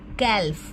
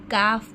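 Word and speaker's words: calf: कैलफ नहीं पढ़ते। काफ पढ़ते हैं।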